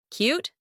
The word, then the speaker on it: cute: Cute, cute, cute. Also, mute, tune. As in the preceding word, the letter E is unpronounced, and the letter U is pronounced as you.